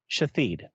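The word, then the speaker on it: Shithead: The worst one was, and I'll spell for you, Shithhead, pronounced Shithid.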